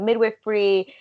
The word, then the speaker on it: midwifery: parlayed into learning about midwifery and then going to school. So that's kind of. Is that how you pronounce it? Midwifery? Yeah, midwifery. Wow. Wild. Yeah. That's the funniest possible pronunciation.